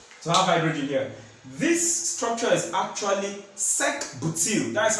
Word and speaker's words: sec-butyl: This structure is actually sec-butyl. That's how it's being pronounced.